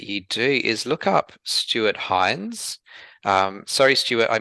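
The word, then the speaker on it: Stuart Hinds: really recommend that you do is look up Stuart Hines. Um sorry Stuart, I mispronounced your name in a previous episode. Uh Stuart Hines, H I N Ds.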